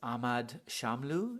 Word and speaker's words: Ahmad Shamlu: into uh another poem now and this is ahmad shamlu is that okay pronunciation absolutely thank you cool and um so